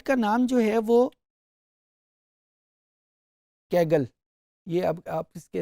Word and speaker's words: Kaggle: اس site کا نام جو ہے وہ کیگل, یہ اب آپ اس کے اسپیلنگ دیکھ رہے ہیں KAGGLE, کیگل کے نام سے وہ ڈیٹا سیٹ ہے.